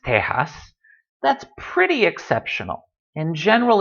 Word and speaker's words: Tejas: same way for Tejas you can spell it either way I've seen Tejas spelled with a Jota much more often but either way it's pronounced Tejas that's pretty exceptional in